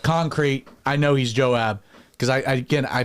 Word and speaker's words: Joab: They pronounce it they say Joav like they pronounce that B as a V and sometimes they have the J as a Y.